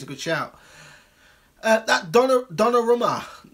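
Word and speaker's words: Donnarumma: good shout that Donna Donna Romo is how you say his name Donna wrote that the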